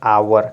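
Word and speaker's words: hour: हो जाएगा H letter silent जब एच लेटर साइलेंट हो जाएगा तो आवर क्या पढ़ेंगे आवर एस लेटर साइलेंट हो जाएगा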